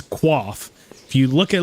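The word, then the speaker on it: coif: and tell them that the original pronunciation of it is qua if you look at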